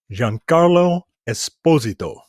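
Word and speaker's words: Giancarlo Esposito: uh I watched a a sitdown interview with Jean Carlo Esposito that is how say his name right that's how that's how he pronounces his name um and that guy's amazing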